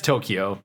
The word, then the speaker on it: Tokyo: mac tokyo yeah it's tokyo that's fine no there's no there's no key it's tokyo ah tomato tomato see when